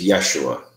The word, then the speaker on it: Yeshua: Well, it's, the J is silent. It's Y in Hebrew, so it's Yeshua.